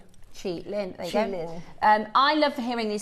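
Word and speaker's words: qilin: And energy is chi, which is q i. So, so if you remember that, chi and then lin. Chi lin.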